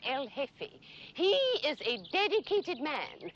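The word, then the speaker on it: jefe: The J is silent. El hefe.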